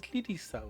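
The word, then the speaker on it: リリサ: It says Yuwaku there, but apparently you pronounce it as Lirisa, which is one of the main characters in the game.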